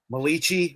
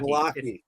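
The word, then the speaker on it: Malachi: Okay, the Jets show to Malichi or whatever the hell Fitz called Corley at the rookie draft. I think he's it was Malaki. It's Malaki. Malaki.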